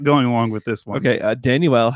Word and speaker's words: Danuel: along with this okay danuel house tanja well did you know that's actually how you say it yeah yeah yeah first annual yeah I don't know